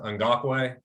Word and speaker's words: Ngakoue: defensive line with Crosby and, how do you pronounce that? Ngakoue.